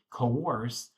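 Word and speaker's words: coerce: We say coorse or force kind of kind of rhymes with course force it to be a date if it's not a date.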